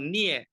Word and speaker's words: 镍: Jadi kalau orang Cina bilang itu nie, tapi berbeda pelafalannya ketika dia bilang nie. Nah, itu berbeda lagi. Kalau nie itu artinya mencubit. Tapi kalau nie itu artinya nikel.